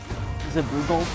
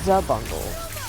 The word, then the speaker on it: Zabungle: I pronounced it wrong. Zaboogle? Zabungle. Zabungle. Emphasis on the za.